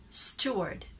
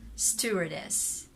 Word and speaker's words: steward: that i have guided you in the correct pronunciation of the word steward steward stewardess stewardess i understand it's very complicated for filipinos or